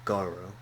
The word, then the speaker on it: Garou: But it's so Garou.